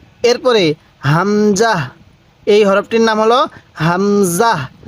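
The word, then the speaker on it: همزة: বলুন ওয়াও এরপরে হা দেখুন এই হা টা উচ্চারণের সময় মুখ দিয়ে হালকা আওয়াজ করবেন তাহলে হা এরপরে হামজাহ এই হরফটির নাম হলো হামজাহ অনেকেই আমরা এই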